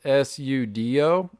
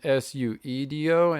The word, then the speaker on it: Seudoe: just dropped a K and Yeah, at first I think it was Sudo, okay. and then Suedo, and then I took how you spell it, which is Pseudo, and I just dropped the P, Oh shit.